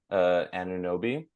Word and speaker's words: Anunoby: B tier, OG, Anunoby.